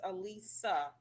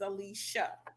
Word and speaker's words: Alicia: it I love it you were saying your name is Elisa um my name is Alicia so I have the sh sound at the end okay so yes I